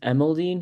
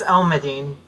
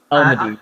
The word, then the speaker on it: Elmadine: It's Elmadine. Elmadine.